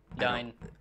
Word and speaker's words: Adine: You said it wrong. Adine.